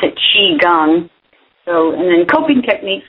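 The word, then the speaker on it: qigong: q i g o n g but you pronounce it Chi gang so and then coping techniques which you um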